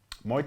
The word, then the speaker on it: Muay: Muay Thai is different. I'll learn the pronunciation by the time we're done. Think of the former president, Muay. Muay. Yes, just Muay. You just say Muay Thai.